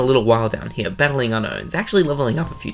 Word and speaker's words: Unown: yes it's pronounced unknown there's no K it's Unown this thing basically acts